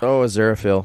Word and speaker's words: Aziraphale: Aziraphale? Oh, Aziraphale.